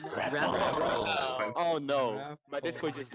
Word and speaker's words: Repl: It's Repl. All right. Let's all say it together. Okay. 3, 2, 1. Repl.